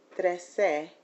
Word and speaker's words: trece: I need to be able to pronounce trece to indicate 13, and if I'm not clear about that, I may be confusing 3 with 13.